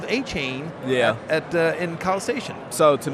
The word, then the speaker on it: Achane: it came out that you preferred to be your last name pronounced Achane, and so I was curious about that.